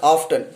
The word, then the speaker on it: often: mispronounce this word as often many of us most of us pronounce this word wrongly like often but t is silent there similarly uh some other